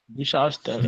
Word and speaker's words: Bushaltestelle: Bushaltestelle. Yeah. Okay. I think I'll be So, there. Ima, come again. Here. Pronounce this word. Bushaltestelle. Donald Trump. Donald Trump. Right. And Bush. It's Bus. Hier Bus. Haltestelle.